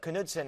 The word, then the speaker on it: Knudsen: Allison, who is Tim Knudsen, and am I pronouncing his last name correct? Timmy Knudsen.